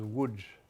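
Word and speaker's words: Łódź: what we say Lud's which is my grandmother pronounces wood I think that's pretty close el old easy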